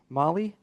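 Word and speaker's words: Mahle: Tyler Molly. Molly, you're right.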